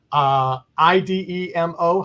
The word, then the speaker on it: Idemo: IDEMO. How do we pronounce that?